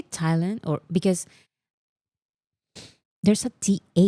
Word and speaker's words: Thailand: Do you say Thailand or because there's a th No, it's Thailand. I know it's Thailand, but why is there an H there if it's not pronounced Thailand?